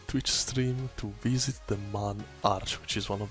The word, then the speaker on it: Mun: Mun, actually, here it's called Mun, like M-U-N, so should be pronounced Mun, I guess.